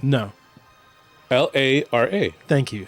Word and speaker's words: Lara: L A R A. Thank you. How do you say L A R A? Lara. Lara. Thank you. Why? So, we won't be calling her Laura Croft again today.